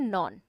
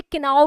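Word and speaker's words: know: Bracket में क्या दे रखा है, नो, और नो की थर्ड फॉर्म होती है नॉन। कई लोग इसे किनाओ भी पढ़ते हैं, जो गलत प्रोनाउंसिएशन है उसको नो पढ़ते हैं, है ना।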